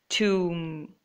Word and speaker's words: tomb: See how I say the word tomb? even though the spelling is T-O-M-B. We are supposed to say that way. I don't know the reason either, and it's pronounced that way everywhere. So it's supposed to be tomb, not tomb. It's tomb.